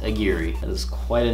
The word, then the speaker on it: Aguirre: Pronounced Aguirre.